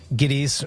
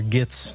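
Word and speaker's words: Gittes: movie Jack Dickson is Jake giddies or gits depending on who's pronouncing his name at the time and he's hired by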